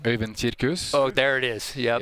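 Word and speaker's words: Øyvind Kirkhus: Can you give us the proper pronunciation? Øyvind Kirkus.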